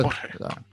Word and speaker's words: Jorge: Oh, Jorge.